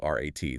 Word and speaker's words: Rat: Now take the word for council, which is rat, spelled r a t. They pronounce that rat, too.